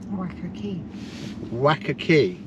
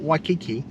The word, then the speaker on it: Wacker Quay: it well we're at come on wakaki not waikiki wakaki which is on the